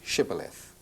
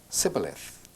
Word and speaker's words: Shibboleth: When he said no, they said to him, "Then say Shibboleth." And he said, "Sibboleth," for he could not pronounce it right.